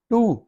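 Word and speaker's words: two: टू, टू इसमें W silent लेकिन आवाज डबल ओवर आ रहा है, टू, दो।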